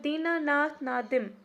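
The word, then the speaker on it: Dinanath Nadim: Then next we have दीनानाथ नादिम, और यू can pronounce it एज दीनानाथ नदीम।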